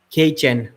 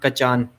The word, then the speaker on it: Kachan: names of the athletes it is dimitri k chen not kachan dimitri kejen i asked it from